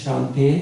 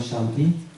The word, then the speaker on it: Shante: One is that, first, my name is Shante, it's not Shanti. ABS Shante is my name.